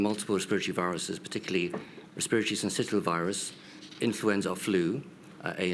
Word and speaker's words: syncytial: Can I just ask you, we've not actually looked at RSV, respiratory, how do I pronounce the second word? Syncytial.